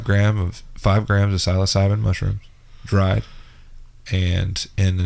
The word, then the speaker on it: psilocybin: That's what Terrence McKenna, the doctor of psilocybin, calls the God dose. 5 grams dried psilocybin. Psilocybin is how he pronounces it.